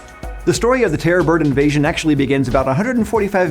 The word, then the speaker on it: terror bird: the terror bird and i'm not saying it wrong i know a couple people were talking about it like terrarium bird or some other kind of pronunciation it is terrorbird i didn't just make